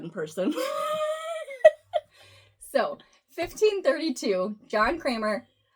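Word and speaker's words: Cranmer: So 1532, John Kramer, his name is spelled Cranar, but that sounds weird. It's like C R A N M R. Anyway, he t Did I say John? It's Thomas. Thomas Krammar, Archbishop of Camp Terberry,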